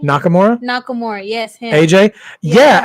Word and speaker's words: Nakamura: with kakamura how do you say his name Nakamura Nakamura yes him AJ yeah actually you know when Nakamura first showed up uhuh um he and AJ wrestled for the title one year okay but then um Nakamura hit him in the junk and got and